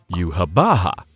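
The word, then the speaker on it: Yhwach: Eurn along with Ludas and the people who just threatened Yamamoto meet this so-called Quincy king, Yuhabaha. Yep, that's how you say it. Yuhabaha rips Ludas's arm off for arguing with Eburn.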